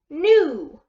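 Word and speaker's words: gnu: okay so we have G N and is the one we hear right which means G is silent okay so alright so GE mmm ooh nu nu okay so this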